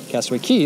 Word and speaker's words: Castaway Cay: castaway k-shirt castaway key castaway key is how it's said that's a really pretty